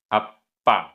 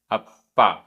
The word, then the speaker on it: अप्पा: अप्पा आधा प पूरा प, अप्पा, अप्पा।